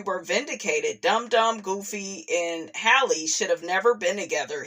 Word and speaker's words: Halle: So I was like, no, I don't think it's Halle, but yeah, that's how you actually pronounce her name.